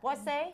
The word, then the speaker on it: Boisse: Boisse?